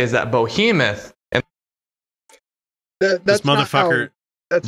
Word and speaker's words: Behemoth: It's spelled Behemoth. Yeah, Oh, Behe- that's behemoth. right, behemoth. it's a Hebrew word. So it's not Behemoth anyway. Like even No, in it's behemoth. Americanized, it's behemoth.